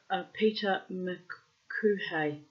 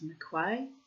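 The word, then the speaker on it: M'Quhae: Captain Peter McQuay, or McQuay, spelt M''Quhae. So I'm presuming it's McQuay.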